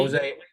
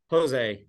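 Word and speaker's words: José: And this week, Jose, you spell it Hosa. yes, Jose with an H.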